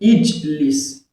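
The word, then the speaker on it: اجلس: So you're going to be using kesra to pronounce Hamzatul Wasl, it will become what? Ijlis.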